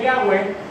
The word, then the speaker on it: Yahweh: Así que este nombre, que en el hebreo se pronuncia Yahweh, significa el que era, el que es y el que será.